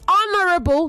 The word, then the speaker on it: honorable: you have a rethink it is Honorable not honorable the H is silent in honor and honorable okay